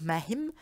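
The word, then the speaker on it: מם: vous avez le même la lettre hébraïque qui se prononce maime qui veut dire les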